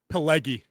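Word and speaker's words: Pileggi: If y'all don't know Mitch, how do you say his last name? Paleggy. Pyg i l e gi. Paleggy.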